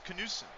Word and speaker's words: Knudsen: The D is silent in Knudsen. Oh, so it's Knudsen.